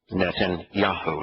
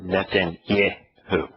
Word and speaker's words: Netanyahu: uh yahusha's name because the part that the name that he is mispronouncing as yeah is actually in his name netan yaho it's not netan yo the reality is that